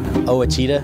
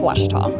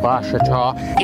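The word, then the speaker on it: Ouachita: Back in Texas, everybody pronounces it Wichita, but really, it's Washita. Washita. Washita. How would you pronounce it? Washita. Washita.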